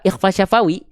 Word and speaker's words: ikhfa syafawi: Jadi cara melafalkan mim sukun ketemu ba, ikhfa syafawi, itu dilafalkan dengan merapatkan kedua bibir, tapi dia gak nekan.